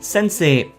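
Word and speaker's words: 先生: English word and they gave it a Japanese pronunciation. I've already explained that, by the way. A teacher would be sensei.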